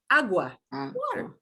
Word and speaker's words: agua: the right hand side agua it sounds almost like a w in english doesn't it agua okay uh eyeglasses guppas